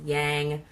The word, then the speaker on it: Yang: talk about Yin and Yang, or pronounced Yang by some people, Yang for those in the know.